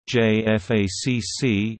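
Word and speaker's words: JFACC: joint force air component commander J FACC is a United States Department of Defense doctrinal term it is pronounced J FAC it refers to a senior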